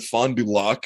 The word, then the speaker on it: Fond du Lac: __ ] because i because when i said fond du lac and they were like right i was like